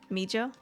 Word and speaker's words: Meja: I said it right the first time. Meja. They do. The J is pronounced here.